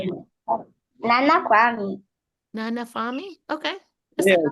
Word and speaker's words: Kwame: Nana Kwame.